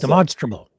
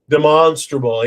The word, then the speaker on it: demonstrable: It has to be demonstrationable or demonstrational. I never pronounce demonstraable. Demonstrable.